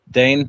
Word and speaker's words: Dane: Darklight, Dade, is it? Or I always get the name wrong. Is it Dade or how do you say it? Dane, like Great Dane.